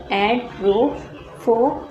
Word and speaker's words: Edrophonium: ठीक है, पहले इसको प्रोनाउंस करने का तरीका सीखते हैं. देखें हमारे पास देखिए लिखा हुआ है एड्रोफोनियम. ठीक है, इस तरीके से पढ़ते हैं हम.